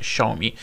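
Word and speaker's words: Xiaomi: da voluto pronunciare voi si dovrebbe pronunciare schumi quindi dovrei averlo pronunciato correttamente questa volta la prima volta che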